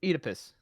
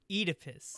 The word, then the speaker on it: Oedipus: because people were laughing too much is it eight a piss it's Oedipus Oedipus oh oh I'm saying that forever now thank